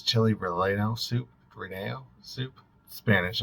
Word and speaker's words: relleno: it's Chile reeno soup reneo soup Spanish it has the two elves next to each other so I think it's pronounced with the Y sound so Chile Rene R